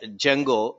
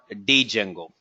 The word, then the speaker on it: Django: how to pronounce it it's called as Django not D Django well this is a